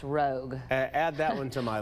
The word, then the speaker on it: Rouge: It's actually pronounced rogue.